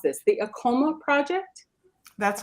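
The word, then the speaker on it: AAKOMA: Charmaine Jackman is with the, help me pronounce this, the ACOMA Project?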